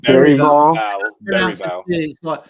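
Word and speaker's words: Bergvall: Berrival? It's like Berry, like Berryvale. Berryvale. It's a like a really soft G.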